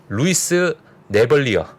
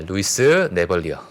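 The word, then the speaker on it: Louis Navellier: 자, 이렇게 얘기하신 루이스 네벌리어. 네, 영어 본토 발음입니다. 네, 루이스 네벌리어.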